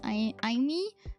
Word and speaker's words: Aimee: But yeah, it's pronounced Aimee, and that's a fun fact.